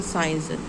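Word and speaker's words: science: फिर आता है साइंस। एस सी आई ई एन सी। साइंस means विज्ञान। अब यहां पर क्या है आपका साइंस में जो सी है वो साइलेंट ये वाला साइंस।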